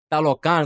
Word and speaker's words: Talokan: Talokan is how you say it.